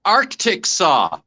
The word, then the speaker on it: Arkansas: that's right tom by the way tom it's pronounced arctic saw yeah yes arctic very good very good uh